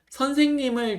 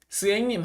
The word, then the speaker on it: 선생님: 자, 요게 선생님을 좀 너무 빠르게 하거나 줄여서 하려고 하지 마시고 선생님 스행님 하지 마시고 선생님 선생님이 이렇게 말씀해 주셨으면 좋겠습니다. 네.